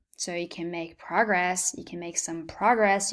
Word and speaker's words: progress: Notice how the stress of the syllable can be placed differently depending on whether the word is a noun or a verb. So you can make progress, you can make some